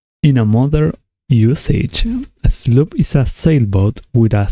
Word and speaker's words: sloop: Google Translator, how to pronounce slope. Sloop.